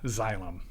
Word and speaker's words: Xillum: that was yeah so our business is called xylem so and it's spelled x-i-l-l-u-m kind of a weird name all